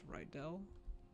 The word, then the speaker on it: Rydel: I've invented this character her name is ryel although the NPCs will pronounce it as riddle um she was a